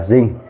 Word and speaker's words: zinc: Zn là zinc. Zinc có cờ sao đọc là zinc cờ.